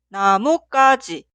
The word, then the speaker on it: 나뭇가지: Esta palabra se pronuncia 나뭇가지 o 나무까지, ya que la palabra posterior 가지 suena en el sonido forzado ka.